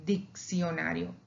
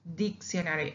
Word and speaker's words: diccionario: say dictionary, diccionario, diccionario, it has two C's. But the first C on the left side, it will be the K. And the second C on the right side, it will be an S.